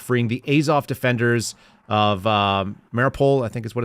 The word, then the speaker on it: Mariupol: And the protest was about freeing the Azov defenders of Mariupol, I think is what it's pronounced.